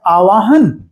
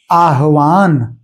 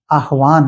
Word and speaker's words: आह्वान: एक शब्द है आवाहन, किसी को बुलाना, और जबकि ये गलत उच्चारण है, सही शब्द है आह्वान, आह्वान, किसी को बुलाना, यानी ह हलन तो होता है इसमें।